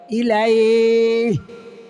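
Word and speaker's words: إليه: ইলাইহি লেখা থামলে শেষের হরফ জজম হবে, সাকিন হবে, উচ্চারণ হবে ইলাইহি।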